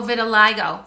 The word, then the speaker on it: vitiligo: Oh, vitiligo.